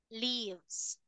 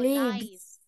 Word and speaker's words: lives: correct however there is only one word that you mispronounce listen and repeat leaves oh no lives lives lives Liv okay so now